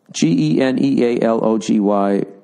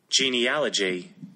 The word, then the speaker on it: genealogy: Genealogy, pronunciation. I love this. This is just for dumb fucking people. How to pronounce genealogy. That is it? Here we go. Genealogy.